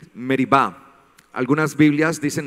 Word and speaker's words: Meriba: Aquel lugar masa y merib algunas Biblias dicen masa y meriba no eso es por la pronunciación en hebreo que yo hago por